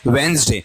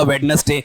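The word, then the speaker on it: Wednesday: क्या है, वेंसडे, जय साउंड है, ठीक है, वेंसडे।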